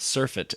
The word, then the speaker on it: surfeit: Like, it's kind of like surfeit is how it's pronounced.